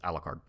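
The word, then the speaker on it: Alucard: is Japanese though yeah but it's alard you're supposed to pronounce it as alard I dare you name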